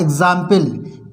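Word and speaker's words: example: है कार्यकारी अधिकारी इसी तरह से होता है एग्जांपल ई एक्स ए एम पी एल ई एग्जांपल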